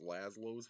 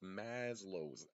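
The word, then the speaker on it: Maslow: I thought it was LLO's hierarchy of needs because of the Cartoon Network show. the lazlo's friends and crap, but it's Maslo's hierarchy of needs.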